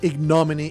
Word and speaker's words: ignominy: his wishes IGN Min it is weird how some English words have the accent on the very first of seven syllables always uh throws me